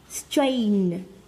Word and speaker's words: strain: Nào, không phải là in mà là a, nó là âm a, được không ạ? Âm của chúng ta này, a, xong rồi âm cuối là âm strain, strain, đúng không ạ?